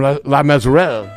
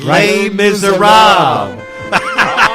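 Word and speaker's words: Les Misérables: That's from La Miserere. No, you're not saying it right. Les Miserables.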